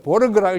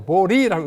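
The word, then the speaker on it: Swedenborg: 이것도 보르그라고 읽지 않고 보리라고 읽습니다.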